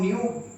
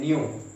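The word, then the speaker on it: nu: अब ये c our lambda जो है, यहाँ पर c जो है वो स्पीड ऑफ द लाइट है, इसको हम न्यू प्रोनाउंस करते हैं, न्यू, ठीक है।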